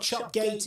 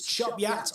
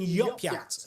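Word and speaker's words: Chop Gate: And in the North York Moors National Park, it's not Chopgate, it's Chop Yat or even Yopyat, according to one commenter on the post.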